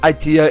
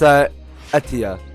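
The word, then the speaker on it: Aetia: I don't think it's pronounced Itea, it's pronounced Atia. That's what it's pronounced.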